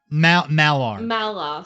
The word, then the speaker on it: Malar: Okay, as an Aasimar and as a paladin, can I try and pray to, how do you pronounce this? Maynard. Minar. Malar. Malar, sorry, the god of magic, who is jealous.